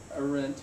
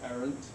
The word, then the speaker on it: Arendt: But, so here's her name, Hannah Arendt, or Arendt, heard her pronounced both ways.